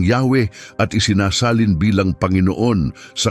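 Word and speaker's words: Yahweh: tetragrammaton o y wh karaniwang binibigkas bilang yahwe at isinasalin bilang panginoon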